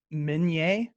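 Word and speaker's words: Minié: by a guy named Minier. But Americans just mispronounced his name and thought that it meant small, as in mini. It actually comes from his name, Minier.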